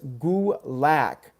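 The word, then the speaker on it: Gulak: I love you but it's goo lack his fin is goo LOC jus gulick that's how I'm gonna pronounce it whether you like it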